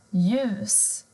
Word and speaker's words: ljus: Men har du L och J tillsammans så försvinner L-et. Du hör inte det, utan det blir ljus, ljud.